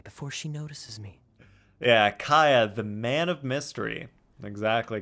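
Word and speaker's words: Kaeya: I mean, Kaya is pronounced Kaya.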